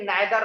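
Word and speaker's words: neither: जैसे हम लोग कहते हैं कि नाइदर के साथ नोर का प्रयोग होता है, या जिसे इसे प्रोनाउंस नीदर भी करते हैं, नीदर के साथ नोर का प्रयोग करते हैं NOR, आइदर के साथ और।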